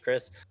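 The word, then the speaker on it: Krys: And my name is Chris. I go by Chris Speaks Everywhere. Chris is spelled K-R-Y-S.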